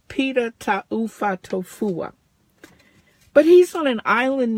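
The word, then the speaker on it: Pita Taufatofua: Pita Tahu. Pita Tahu.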